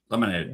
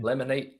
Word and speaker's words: Lamine: Lamine. Lamine.